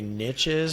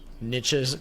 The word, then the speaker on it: niches: it's okay both ways why i like to say niches is because it rhymes with riches niches niches get actually when